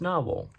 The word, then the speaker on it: Nahvalur: Let's do a quick writing sample now with the Narwhal. They changed the spelling a few years ago. This is a more traditional spelling, but apparently it's still pronounced Narwhal.